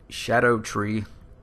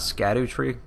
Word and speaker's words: Scadutree: going to be the shadow tree Avatar he's going to be at the tree worship sanctum Grace like I was saying in the other video it's not scatter tree like I was pronouncing before and other people have